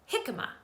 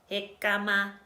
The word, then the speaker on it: jicama: after me let's start by saying it normally jicama good job now let's say it like a robot hikama good job now let's sing it jicama good